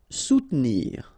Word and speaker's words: soutenir: Soutenir. Okay, so sous first, and then don't insist on this here.